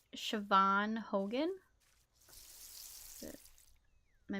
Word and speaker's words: Siobhan: who um I gotta think of how to pronounce her name um it's Siobhan Hogan that's it am I missing her middle